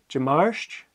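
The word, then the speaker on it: Dimàirt: Jamarsh, Tuesday. Jakiaten, Wednesday. Okay? And as you just heard, it's a J sound at the beginning.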